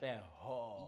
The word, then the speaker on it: Katleho: Is it an H-O or G-O? It's an H-O. It's an H-O, it's like Katleho.